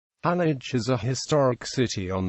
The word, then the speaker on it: Halych: The city's name, though spelled identically in modern East Slavic languages, is pronounced Halych in Ukrainian and Gallic in Russian.